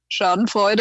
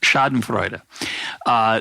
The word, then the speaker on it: Schadenfreude: temptation for me to enjoy it when there's chardon Freud is that the correct pronunciation by the way yeah it's pretty good how would you say it schadenfreude garden it's a shot I'm gonna do a